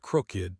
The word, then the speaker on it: crooked: That is one of those adjectives where we do pronounce the ed.